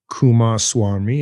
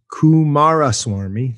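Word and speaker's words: Coomaraswamy: ball buster basically what about hinduism well ananda kumas swami as we as i'm having trouble say his name kumas kumara swarmi thank you well he lays out the bhagavad-gita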